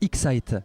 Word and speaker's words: Excite: Alors ça se prononce Excite. Excite, le I, d'accord. On le prononce, on va dire un peu en Y à l'anglaise.